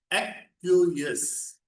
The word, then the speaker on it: acquiesce: I will put it down in the chat also, and it is pronounced as aqueous.